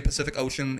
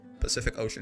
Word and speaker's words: Pacific Ocean: Another thing I learned is if you say Pacific Ocean, each C is pronounced a different way. Pacific Ocean, yeah, so true.